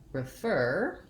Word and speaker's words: refer: syllable stress we have refer with short on the first syllable and stress on the second syllable you can also think